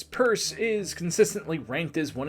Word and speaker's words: Pierce: Franklin Pierce, who pronounced his surname as Purse, is consistently ranked as one of the worst presidents in American history.